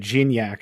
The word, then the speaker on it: Gignac: Luis, you see the comment there about I always butcher his name, but Gignac, I believe is how it's pronounced.